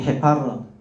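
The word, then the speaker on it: Hepar: 근데 제가 아까 이제 우리 집사람이 우울증 걸렸을 때 그때 썼던 약이 헤파르. H는 발음 거의 안 합니다.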